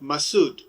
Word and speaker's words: Massoud: hero, Commander Massoud, Chief Massoud, but let me pronounce his name in purity without all these adjectives that we have given it, Massoud.